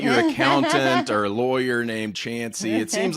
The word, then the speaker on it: Chancey: This one's called Chancey Rhymes with Chance.